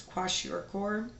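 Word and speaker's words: kwashiorkor: right so then this one the way it's pronounced is quash oror and this is what we see children get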